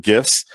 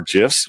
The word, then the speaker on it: GIFs: that we also support gifts or gifs which are way you want to pronounce that and you also have